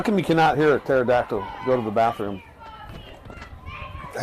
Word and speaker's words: pterodactyl: you cannot hear a pterodactyl go to the bathroom I have no idea because the p is silent um hey Bill courtesy